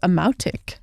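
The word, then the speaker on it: amautiq: It's the plural of amati, which is amautic. Amotic? Yeah. Okay. A-M-O-W-T-I-C-K is how they have it spelled to pronounce.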